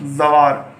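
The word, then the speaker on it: زوار: अब इसकी हिज्जे करिए आप, जे वे जव, वे अलिफ वा, जवा, फिर ये साकिन जवार। इस तरह से आपको पढ़ना है। अब याद दे सकते हो, ये हमारा अगला हरूफ है जीन।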